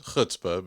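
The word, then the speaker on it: chutzpah: empower kids to have hutzpah yeah hope I pronounced that right right it's hutzpah but yeah you're fine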